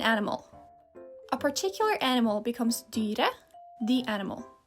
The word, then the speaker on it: dyret: A particular animal becomes dyret, the animal. You add et at the end of the word, but you pronounce it like e. Don't ask me why, just go with it.